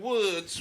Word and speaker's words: Woods: told you 17 times it's the morning woods with an s it's plural it's the